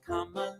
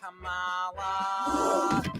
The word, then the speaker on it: Kamala: And don't you dare pronounce her name Kamala. It's Kamala.